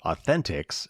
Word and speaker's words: AU10TIX: The Israel-based company called Authentics, and that's, I had to look it up because it's spelled AU10TIX, so Authentics.